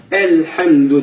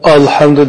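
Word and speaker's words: الحمد: Elhamdü diyenle alhamdü diyen olmaydı. Alhamdü desek hatalaşkan bulunuz. Elhamdü yine telaffuz kılımız.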